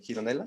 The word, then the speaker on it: Gironella: es un dibujo de Gironella o sí, Gironella, ¿no? Así se pronuncia, Gironella, Sí.